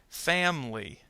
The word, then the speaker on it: family: Family. Family. Notice the I in family disappears.